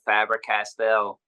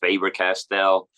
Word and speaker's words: Faber-Castell: use a lot of fabric Castel or uh I guess it's pronounced faber-castell uh felt tip pens I